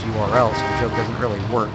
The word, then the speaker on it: URL: agony it kind of makes you want to Earl except that's properly pronounced URL so joke doesn't really work but I'll let